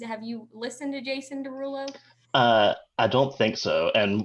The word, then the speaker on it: Derulo: Dench doing with Jason Derulo? Yes, and I don't even know what like I'm gonna mangle this. Is it Jason Derulia? Derula? How do you say his name? Jason Derulo. Jason Derulo.